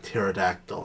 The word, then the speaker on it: pterodactyl: The first word that came to my head when you said P, I was like pterodactyl, and I was like, Pterodactyl.